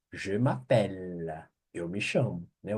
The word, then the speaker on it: je: a voar a voar então a pronúncia G G você se fosse falar Geraldo je je cuidado que não é o j j j Sou Eu J aqui é je eu tenho G eu